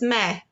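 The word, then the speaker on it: mē: singular is super easy in english it's me in latin it's me so the difference is pronunciation and the macron over the vowel e that long line but otherwise it's exactly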